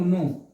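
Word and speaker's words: know: एन ओ डब्ल्यू, नो। ये के मत पढ़ना, सिर्फ के बस दिखाना, क्या दिखा रहे हैं, बोलना नहीं है, नहीं तो फिर दिक्कत हो जाएगा।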